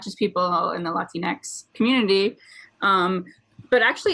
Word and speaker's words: Latinx: Is Latinx? I say Latinx, so Latinx, but that's like pronouncing it with the Spanish vowels.